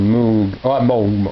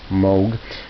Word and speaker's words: Moog: this is nashville gold the switch on moon sorry it's pronounced moog featuring uh gill thright